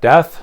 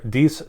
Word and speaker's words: Deth: If you're new to the channel, it is pronounced Deth, not Death, so no need to try to correct me.